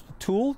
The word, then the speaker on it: tulle: It's a fabric called Tulle, T-U-L-L-E, I think. Oh, I know Tulle. Okay, so it's Tulle. I didn't know how to pronounce it.